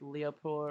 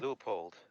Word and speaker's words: Leupold: One of my favorite sites is I'm pretty bad at pronouncing it, but it's like Leopold or something like that, Mark IV. Leupold.